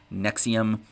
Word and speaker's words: NXIVM: metal historian is the story of nxivm pronounced nexium a cult that combined